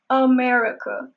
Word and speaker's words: America: America. And also be careful with this word at the beginning. There's the schwa sound. It is not America. There are no A's, no sounds. There is America.